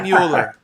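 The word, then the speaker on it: Möller: So I should say Muller? I should say Muller. Yeah, you know, it's one of those things your last name uh you know, people pronounce it how they pronounce it and after a while you're just like yeah, that will go with that. That's good. But yeah, it's it's the O actually has two two dots over it.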